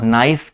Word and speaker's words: gneiss: देखो नाइस क्या होता है मैं आपको बताता हूँ, GNEISS, इसमें जी साइलेंट होता है, ये बनता है, तो उसको याद रख लीजिएगा।